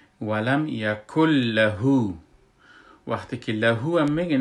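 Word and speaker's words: ولم يكن له: و در لغت یکن، یکن نوشته شده و چون نون نون ساکن است و نون ساکن پشت سرش لام آمده، در این حالت ما ای را ادغام میکنیم، نون بیخی تلفظ نمی کنیم و کاف کافی که دو است کاف کتی لام یک جا میشه و کاملا نون تلفظ نمیشه، که وقتی که ما میخوانیم اینو میگیم ولم یکل لهو.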